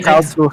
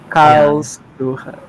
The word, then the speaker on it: Karlsruhe: How do It's you pronounce that? I know. I Karlsruhe. yeah. Karlsruhe.